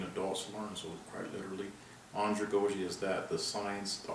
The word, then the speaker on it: andragogy: a definition of anja goji which is actually pronounced andragogy sounds like a french word but it actually